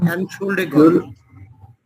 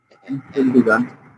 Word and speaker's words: Entschuldigung: উচ্চারণ করেন এটা, এন শুল উচ্চারণ করেন ছোটা, Entschuldigung. Entschuldigung.